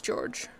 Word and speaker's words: Georg: Spiders, George. Spiders Georg? I do not think that's how it's pronounced.